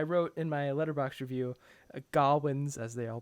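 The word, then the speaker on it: Gawain: and i i wrote in my letterbox review gawwins as they all pronounce it his shame clouds everything through the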